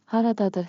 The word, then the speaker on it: Haradadır: And for practice, you can also say Haradadır xəritə? Pronunciation beat. Clap with me. Rhythm makes memory sticky. Haradadır. Ta ta ta ta.